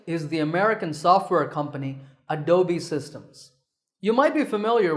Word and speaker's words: Adobe: often pronounced wrongly as Adobe but that e at the end is not silent it should be said as an e sound so it's Adobe number 9 is this